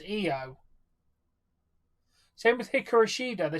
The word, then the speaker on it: Io: Fine, it's pronounced EO apparently.